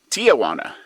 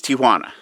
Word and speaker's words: Tijuana: time pronouncing tijuana properly everybody seems to say it tijuana and when that kid said mexicans start looking around for their aunt it's tijuana maybe not so hwana but it's tijuana and uh yeah simple